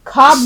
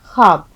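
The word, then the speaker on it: ख़्वाब: उर्दू में बोला तो इसका सही तलफ्फुज इसका सही उच्चारण आपको आना चाहिए आप खवाब नहीं कहेंगे आप कहेंगे खवाब तो टाइटल हमारा क्या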